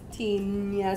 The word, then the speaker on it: Tignanello: Tignanello. So G-N. Yes. So Gnanello. Tignanello.